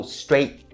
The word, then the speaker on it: straight: and it ends with the /t/ sound so straight straight right there. And most of the time native speakers don't pronounce the /t/ sound at the end of the syllable very very clearly so that's why you